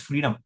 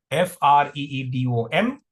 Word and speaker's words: freedom: F-R-E-E-D-O-M. All right, people. So let's listen to the pronunciation first. It's freedom. Freedom. Freedom. Free. That is the stress syllable.